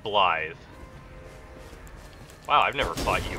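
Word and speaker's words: Blaidd: I hate that his name is spelled like Blade, but said Blythe.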